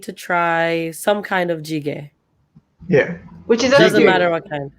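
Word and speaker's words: 찌개: here, they need to try some kind of jjigae. Yeah. Which is a Doesn't Jjigae. matter stew. what kind. Jjigae Stew. is Yeah. a stew. Yep. What did Stew. I Also, say right or wrong? Chike or jjigae?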